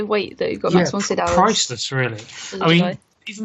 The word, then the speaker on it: Max von Sydow: He just can't pronounce his name. Max von Sydow. There we are. He did it. I know, but I just find it so much more fun saying Max von Snowden.